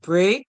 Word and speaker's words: break: In the word break, the E is silent and the A makes the sound A.